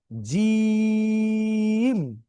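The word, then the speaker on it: جيم: এরকম যাতে না হয় এ বি সি ডি ই এফ জি জি যেরকম আমরা বলি অথবা কেউ যখন ডাক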